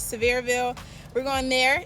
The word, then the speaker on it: Sevierville: So we're going to Tennessee, and I think the way you pronounce it is Sevierville.